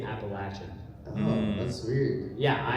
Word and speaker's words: Appalachian: I've always said Appalachian. And he was like, yeah, I said Appalachian when I got here, and no one would buy anything from me because they said I said it wrong. And so they say Appalachian.